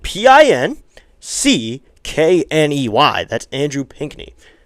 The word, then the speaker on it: Pinckney: It's one of those names where you don't know if you want to pronounce the C and the K or if you just pronounce it as one.